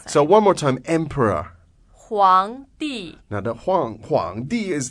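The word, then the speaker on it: 皇帝: 皇帝 Now, that's not the same as yellow. It's not the not different characters different character, but it sounds exactly the same.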